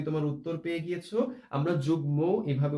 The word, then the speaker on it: যুগ্ম: সেই শব্দে সাধারণত আমরা যুগ্ম এই কথাটি উচ্চারণ করে থাকি, অর্থাৎ মটা আমাদের উচ্চারণের মধ্যে থাকবে। আমরা এর মধ্যে কিন্তু তোমাদেরকে বলে দিয়েছি। অশ্বিন, আশা করি তুমি তোমার উত্তর পেয়ে গিয়েছো। আমরা যুগ্ম এভাবে উচ্চারণ করে থাকি।